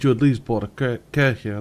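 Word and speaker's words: Kärcher: that yeah oh in the UK it's just culture yeah that's wrong pronunciation buddy well they advertise it like that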